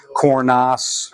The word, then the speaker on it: Cornas: So that's why you don't say like Vaccara, you just pronounce the S. Cornas, Gigondas, they're all hard-ending words because they're not French.